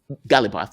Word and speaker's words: Ghalibaf: Bagher, I'm not going to try to pronounce it. Bagher Ghalibaf. Ghalibaf, that's it.